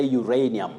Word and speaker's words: uranium: is it uranium yes you say uranium what we should avoid is uranium that letter a takes its name as the sound in that word you ray that diphthong the glide uranium over to on the